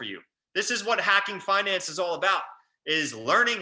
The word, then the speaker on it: Fynanc: and the bottom we we spell it with a quirky spelling but we pronounce it Finance okay so as a